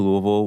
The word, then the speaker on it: Louisville: growing up yeah absolutely so I moved to Louisville when I was five proper pronunciation there I mean obviously you're from there